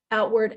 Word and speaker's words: outward: in the word so inward outward and southward are all stressed at the beginning that first syllable is stressed inward outward southward